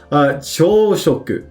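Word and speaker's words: 朝食: Without that go, they're actually pronounced completely differently. And it's pronounced chōshoku.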